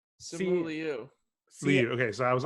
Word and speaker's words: Simu Liu: It's just Simu Liu, right? I said CM Lou, I think. Simu Liu.